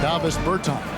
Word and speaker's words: Davis Bertans: Davis Bertans.